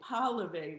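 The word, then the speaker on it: Pahlavi: and i said so sydney's last name is p-o-l-i-v-y which is the russian jewish spelling and pauliev which is the name of the regime of the jewish of the shah of iran is spelled p-a-h-l-a-v-i but they're sound the same obviously his best friend sidney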